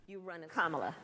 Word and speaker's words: Kamala: Kamala. So just think of like the punctuation mark, a comma, and that add a la, and there you go.